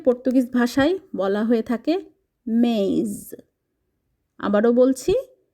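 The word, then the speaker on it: mês: মাসের নাম মাসকে পর্তুগিজ ভাষায় বলা হয়ে থাকে মেজ আবারো বলছি মেশ জানুয়ারিকে পর্তুগিজ ভাষায় বলা হয় জানেইরু জানেই ফেব্রুয়ারি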